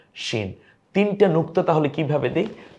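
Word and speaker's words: شين: হরফের নাম হয়ে যায় শিন। যেমন শীত ইত্যাদি না, শরৎ, শিশির। এই শব্দটা যে স তালব্যস্য দিয়ে আমরা লিখি, সেইভাবে একটু শক্ত আওয়াজ হবে শিন।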